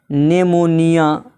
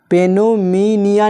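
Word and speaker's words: pneumonia: जैसे यहाँ पर है नेमोनिया, पेनोमीनिया नहीं पढ़ा जाएगा बल्कि क्या पढ़ा जाएगा, नेमोनिया। यानी यहाँ पर पी साइलेंट है।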